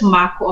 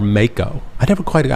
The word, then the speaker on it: Mako: We read it as Mako. Mako? But if you are like you, Mako. Mako? If you have a southern United States draw, it is Mako.